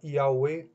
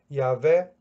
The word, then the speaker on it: Yahweh: Um vai dizer que se pronuncia Yahweh, Yahweh. Outro vai dizer que se pronuncia Yahvé. Outros vão dizer que se pronuncia Javé.